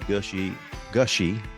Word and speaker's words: Gushee: For those of you who are regular listeners, I just interviewed David Gushee.